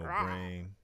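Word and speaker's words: Brane: me back then as, Brain. B-R-A-N-E. A lot of times people would spell it or pronounce it with an S, but it's not with an S.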